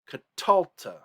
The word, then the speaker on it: katalta: Notice that in katalta, and catalti. Those two, the accent is not on the final syllable. In catal and catala and catalt, those, the accent is on the final syllable. But in catalta and catalti, those accents have shifted. They are on the R2 syllable.